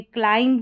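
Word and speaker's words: climb: Bomb फिर ये क्लाइम नहीं बी का साउंड नहीं आएगा। क्लाइम एम तक ही आपको पढ़ना है इस एम तक।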